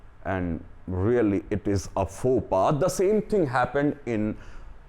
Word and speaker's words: faux pas: Okay, and the next one, friends, it is spelling is totally different and the pronunciation is not according to the spelling. The spelling is F-A-U-X-P-A-S, but the pronunciation is faux pas.